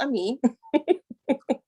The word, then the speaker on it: Ami: If you're from the Caribbean, you're probably going to say Ami, but that's fine because, you know, my entire family does that, but it's pronounced Ami. My father's Jamaican. He puts a whole H on the beginning of my name. I'm like, Daddy, it's just Ami. He's like, Hami, but it's okay.